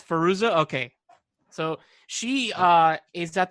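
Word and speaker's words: Fairuza: from the craft what's her how do you pronounce her first name the girl from the craft it's firoozeh okay so she is at the door and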